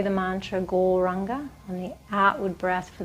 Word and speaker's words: Gauranga: The mantra is Gauranga, and it's said in 4 syllables: Gaur, Ra, Ang, Ga.